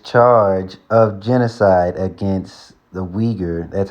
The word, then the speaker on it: Uyghur: of genocide against the uyghur that's how you would say that it can either be spelled you y g h u r or u i but you pronounce it weaker the weaker minority so